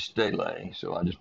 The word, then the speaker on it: stele: It looks like steel, S-T-E-L-E, but the Greek word is stele, so I just pronounce it stele.